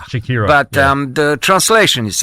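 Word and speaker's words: Siekiera: How do you pronounce their name? Well, it's Shakira. Shakira.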